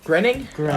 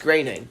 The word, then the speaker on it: Groening: ah another macro groaning grinning bro I actually believe it's pronounced graining graining thanks bro neg